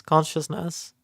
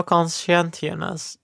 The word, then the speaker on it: conscientiousness: Make five personality scale, neuroticism, extraversion, openness, agreeableness, consciousness. No conscientiousness. Wait, conscientiousness. Okay.